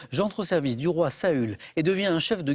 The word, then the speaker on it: Saül: surpris certains le roi saül donc ce n'est pas une faute de prononciation sol en hébreu avec le lui très basse et saül on peut le prononcer sol bien sûr y'a pas